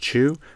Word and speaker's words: xu: And uh another one, another good one is uh XU, which is pronounced Chu, which is a Vietnamese monetary unit.